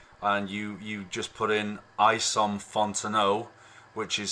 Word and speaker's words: Isom: So if you go to YouTube and you just put in Isom Fontenot, which is spelled I-S-O-M, that's his name, Isom.